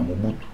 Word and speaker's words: Mobutu: Et coïncidait ma ben à Équateur pour prononcer Hutu te pour prononcer Mobutu, c'est comme ça les messieurs c'est Mobutu.